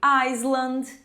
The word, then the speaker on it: island: Então essa aqui eu já ouvi island, já ouvi Island, não é nenhuma dessas pronúncias. A gente vai pronunciar o I com som de I, só que a gente não pronuncia o s, então vai ficar island.